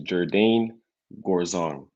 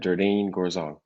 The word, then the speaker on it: Jerdaine Gourzong: Okay, let's start off by saying how to pronounce my name. My name is Jerdaine Gourzong. You got that? Jerdaine Gourzong.